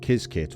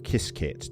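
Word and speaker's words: Qiskit: release of the new ibm kiz kit or kiss kit depending how you like to pronounce it the kiss kit slash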